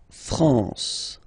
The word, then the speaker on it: France: this naal okay okay La France La France okay n here nazal La France okay we continue Le